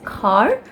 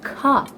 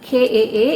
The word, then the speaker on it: car: But in the UK they call this as car. It's just car. It's not, the R is not even pronounced. It's just the A which is extended. The R is almost ignored. It's car. It's like KAA instead of CAR.